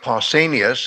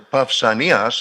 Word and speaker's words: Pausanias: by the name of Pausanias, as Anglos pronounce it, or Pausanias, as we pronounce it in modern Greek, what he in the 2nd century of our era said about Eleusis or Elefsina.